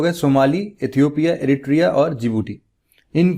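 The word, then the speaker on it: Djibouti: डी से start होता है, लेकिन प्रोनाउंस जिबूटी करते हैं, मतलब DJIG और BOUTI।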